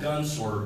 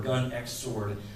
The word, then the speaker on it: Gun X Sword: recommend seeing it it's it's called gun swword or Gun X sword however you want to pronounce it um but it's a